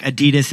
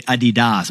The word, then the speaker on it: Adidas: Like you're thinking, Jack, Adidas is really Adidas over in Germany.